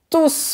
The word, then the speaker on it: tous: Tous les Américains veulent apprendre le français. On qualifie le nom qui est après. Donc, on ne prononce pas le S.